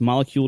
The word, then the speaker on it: Molekule: it's spelled like the word but switch out the C for a k so m o l e k l e molecule with a K that's molecule.